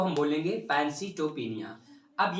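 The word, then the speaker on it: pancytopenia: अब तीनों ही अगर किसी स्थिति में डिक्रीज होते हुए दिखता है तो क्या होता है पैंसीटोपिनिया।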